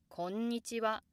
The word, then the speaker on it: こんにちは: Moreover, certain words are commonly pronounced high from the start, even without any preceding words. For example, こんにちは、こんにちは. Pronouncing the initial ko low is certainly not wrong, but こんにちは often sounds a bit